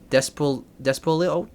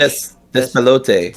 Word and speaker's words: Despelote: So let's go right to games for impact, which is Consume Me, Despolo. I don't know how to pronounce that. Lost Records, Bloom and Rage. Despelote.